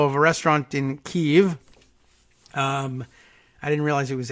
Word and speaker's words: Kyiv: But pronouncing Kyiv is tricky and weird and difficult unless you want to spell it out as K-E-Y, key, and then dash Y-E-E-V would give us the hint that it's Kyiv. And I guess pronouncing it quickly and doing it live on the air I guess Kyiv, without much of a hitch in between, passes for relatively close approximation of the way that the Ukrainians say it.